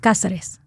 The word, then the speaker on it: Cazares: Casares. Casares.